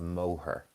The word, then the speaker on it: Moher: So maybe some people get confused about the pronunciation, but it's the Cliffs of Moher.